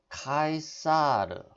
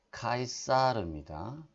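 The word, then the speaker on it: Caesar: 되겠죠 지체로 그 다음에 이것은 카이사르 네 이건 또 왜 가 쌀을 가 아니라 이제 카이 쌀입니다 뭐 마르면 캣 싸 케 쌀 카이사르 또 또한 위와 같은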